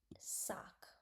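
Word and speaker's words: sac: In French sock.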